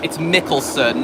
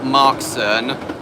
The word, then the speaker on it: Mickelson: It's Mickelson, not Markson.